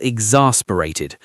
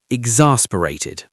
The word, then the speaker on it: exasperated: You feel exasperated. Pronunciation exasperated. The stress is on the second syllable. Exasperated.